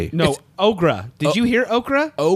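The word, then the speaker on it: Aughra: It was um Ogra. Dark Crystal. Oh no But it's spelled A U G H R A.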